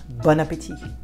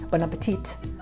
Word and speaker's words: bon appétit: And I know English people, especially in movies and TV shows, they like to pronounce the last letter T. Bon appetit. Bon appetit. Don't do that.